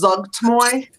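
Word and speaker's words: Zuggtmoy: So rather than spelling the cat's name, her name is Zugtmoy.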